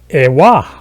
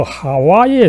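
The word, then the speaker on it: חַוָּה: 원래 이 원어, 성경의 원어는 에와, 그죠? 에와 혹은 뭐 하와에 사실은 가깝습니다. 그런데 이것을 이제 영어로 쓰면 에바에서 결국은 또 비슷하게 이브로 이제 그 변형된 것이죠. 그래서 원 발음은 에와 하와에 가깝고 오히려 영어 이브가 이 에와를 이제 발음하는 과정에서 이브로 이 나쁘게 변형이 된 거죠.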